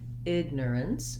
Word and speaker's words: ignorance: do my er sound my length is on my first syllable so in this case egg is longer egg and then i add miner ignorance ignorance and you can see